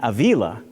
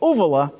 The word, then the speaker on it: Avila: 2 pm I replied under what name Avila you must mean Avila I say yes that's what I meant and I thought how nice of her to teach me the proper pronunciation of my name it baffled me though because my U.S publisher has called me ovala for seven years my student who wrote